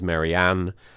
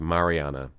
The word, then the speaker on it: Mariana: her referred to as Marianne. She calls herself Marianne most of the time. I call her Mariana. Her name's technically pronounced Mariana, but I guess I split the difference, and I say like